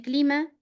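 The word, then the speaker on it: climat: Eh, a ver, José, vamos con el clima. Clima. Hay como el clima. Clima, directamente clima. No pronuncio la T final. Clima, clima.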